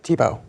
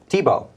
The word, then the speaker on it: Thibault: guest is uh Mr T bolt that's how you say it right Tebow Tebow so take a minute